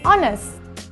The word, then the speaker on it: honest: plenty use and before words that start with the silent h these are nouns like our and heir and the adjective honest so we say an hour an heir and an honest person do not use and